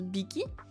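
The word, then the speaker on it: 匹: ce kanji là ici il se prononce Biki parce qu'il y a un TR devant Siki ça veut dire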